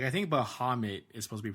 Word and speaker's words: Bahamut: that but it's like Bahamut like the U is like the O not the uh sound so like it it